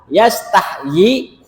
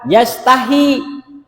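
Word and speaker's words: يستحيي: Yastahyinya kata yastahyi ini ya itu boleh dibaca yastahyi ya. Jadi huruf ya-nya ada dua. Huruf huruf huruf ya ada dua. Yastahyi. Yanya ada dua. Kemudian boleh juga dibaca yastahi.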